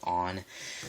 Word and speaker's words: Onn: it's $25 it's by the company on which is spelt on except with the extra in and you know it's I will admit on as a really good